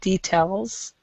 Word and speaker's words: details: safe good okay and details on that word I think um we need to stress the second syllable as well details some things yeah right